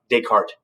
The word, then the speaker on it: Descartes: dude was a a renaissance man um renee descartes check him out descartes the uh this is silent uh check them out but back to